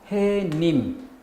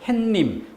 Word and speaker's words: 해님: 명사가 아닌 경우 해님. 해 뒤에 님. 명사가 아니기 때문에 사이소리를 인정하지 않는다. 따라서 발음을 햇님, 니은을 넣어서 햇님 이렇게 발음하면 틀린 발음이죠.